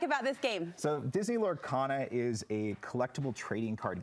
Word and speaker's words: Lorcana: Lorcana.